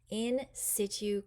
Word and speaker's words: in situ: First up, insitue conservation. This word is pronounced like the beginning of the word situation because this means we